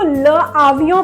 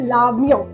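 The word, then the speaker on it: l'avion: okay next है अब हम इसको ल आवियो प्रोनाउंस नहीं करेंगे हम इसको बोलेंगे लावियों क्या बोलेंगे लावियों ठीक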